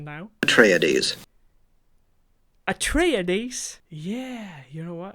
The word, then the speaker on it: Atreides: clip and listen to the first word paul atreides okay so first we have the name of